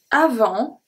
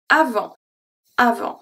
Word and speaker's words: avant: Juste après l'hiver et avant l'été. Et make a very specific sound, so I don't count that as a silent letter. Avant, the T here is silent.